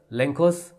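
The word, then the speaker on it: Lencho: तो क्या does लेंकोस letter reach God, तो क्या लेंचो का लेटर गॉड के पास पहुंचता है। हम लेंशो या लेंको दो में से कोई प्रोनाउंसिएशन इस नेम को दे सकते हैं।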